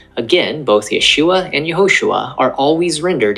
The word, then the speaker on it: Yeshua: The first letter to the farthest right is called a yod. It makes a Y sound, as in yellow. Under the yod are two horizontal dots. This vowel is called Sarah. This vowel makes a long A sound, as in say. The yod and Sarah together make Yeh, hence Yeshua.